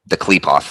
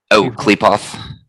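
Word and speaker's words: Qliphoth: Klepoth. Klepoth, yeah. I think it's pronounced Klepot, but it's spelled with the TH.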